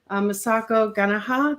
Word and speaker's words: Masako Ganaha: Masako Ganaha, did I pronounce that right?